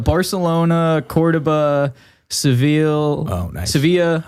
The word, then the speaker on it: Sevilla: Sevilla, I think it's pronounced.